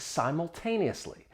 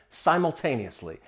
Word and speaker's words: simultaneously: Simultaneously, it has six syllables. The stress is on that third syllable.